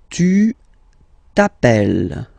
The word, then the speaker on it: tu t'appelles: All right, second form, tu t'appelles. Okay, remember, final S not pronounced. Tu t'appelles.